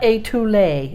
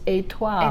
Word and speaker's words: étoile: not étoile, it's étoile. Etoile.